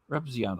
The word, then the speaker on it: Repzion: Oh, it's pronounced Repzion. Where'd it go? Where'd my note go? Repzion.